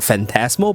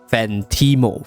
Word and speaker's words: Phantimo: I thought it was Phantasmo, but it's actually Phantimo.